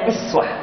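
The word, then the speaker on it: أسوة: nafi'ah, membaca uswah dengan iswah. Faqad kana lakum fi rasulillahi iswatun hasanah, iswah. Ini bisa dibaca uswah, bisa iswah.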